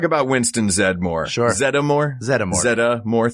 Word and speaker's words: Zeddemore: Zeddemore. 3 syllables?